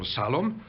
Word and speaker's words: Shalom: written by Yehoshua ben Menahem Shalom, or Salom, the way it's pronounced in Bosnian Ladino, which celebrate the memory